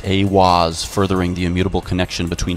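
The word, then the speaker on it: Aiwass: Aleister Crowley meditated inside the Giza octagram and channeled the divinity Awaz, pronounced Awaz, furthering the immutable connection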